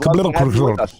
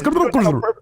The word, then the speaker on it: CBLCRSHR: It's pronounced Cabal Crusher. That's how you say it, Shady. You keep mutilating my name, man. No, it's Cabal Crusher.